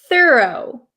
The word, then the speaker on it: thorough: American so this is American pronunciation okay I pronounce this word thorough thorough thorough thorough okay please try to repeat